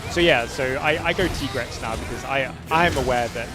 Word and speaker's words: Tigrex: So it's just like how the kind of pronunciation kind of crosses the language borders. So yeah, so I go Tigrex now because I'm aware that that's how the team refers to it.